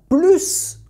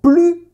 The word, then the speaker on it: plus: Mais si je prononce « il a plus d'argent », je veux dire « il n'a plus d'argent ».